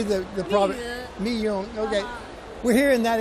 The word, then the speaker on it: Miyun: You say Miyun. How do you say the product? Miyun.